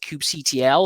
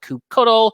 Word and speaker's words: kubectl: Now, lots of people pronounce this in different ways. I pronounce it kubectl. Some people call it kubectl. Some people call it any other kind of way that you want.